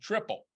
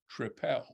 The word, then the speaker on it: tripel: spoke to him and he then said tripel maybe he was correcting my pronunciation and not saying which beer he liked but I should go back to calling it a tripel again maybe maybe absolutely